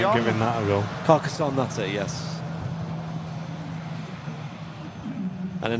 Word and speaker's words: Carcassonne: In from is it Carcassonne? Is that how you pronounce it? No, I ain't giving that a go. Carcassonne, that's it, yes.